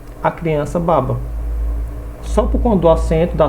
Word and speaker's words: baba: a do significado até por exemplo baba não tem acento babá já tem acento observe a babá trabalha e a criança baba só com do assento